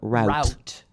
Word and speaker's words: route: Out Route 28. Okay? And most people in other places call it route. However, and we say it as if it's spelled R-O-O-T. But we routed the enemy, R-O-U-T. Exactly.